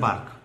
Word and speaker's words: BARC: to pronounce the word BARC, never say the word BARC. Always say B-A-R-C. Pronouncing BARC is a very wrong impression.